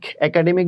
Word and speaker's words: একাডেমিক: কারণ কি? একাডেমিক ক বলি নাই, একাডেমিক, এখানে যেহেতু অয়ের উচ্চারণ হচ্ছে না ওই জন্য হসন্ত।